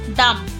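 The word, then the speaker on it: dumb: Com, lamb, B silent, lamb. थम, थम, डम, डम्ब नहीं होता, डम।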